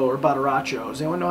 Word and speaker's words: Badaracco: Badaracho. Two C's, I would say, is ch in Italian, I'm pretty sure. Or maybe one C at the beginning, like ciao, I don't know.